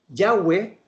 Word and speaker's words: Yahweh: a ver, Yahweh es el nombre, la pronunciación del nombre Jehová en hebreo.